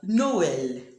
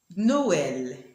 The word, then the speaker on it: Noël: In the dieresis, E sounds L, so we have Noël. Noël. And in this other word, it is pronounced naïve.